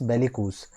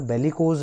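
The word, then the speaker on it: bellicose: ठीक है guys, next word है अपने पास बेलिकूज। देखिए इसका प्रोनाउंसिएशन देखना एक बार, बेलिकोज नहीं होता, क्या होता है? बेलिकूज।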